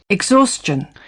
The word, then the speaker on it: exhaustion: पर इसकी सही pronunciation क्या है? Exhaustion.